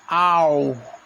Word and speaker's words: hour: antes dela, porque ela, quando eu pronuncio, ela tem som de vogal. Então, ao invés fica au. Então, o primeiro som acaba sendo o som de uma vogal.